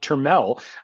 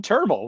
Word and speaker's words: Termel: One, his name is pronounced Termel. According to Baseball Reference, it rhymes with thermal. It is not Termel.